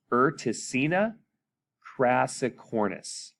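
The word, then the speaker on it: Urticina crassicornis: tiscina and the species classic cornice so it's erticina cracicornus there you go um urtica or urtacina refers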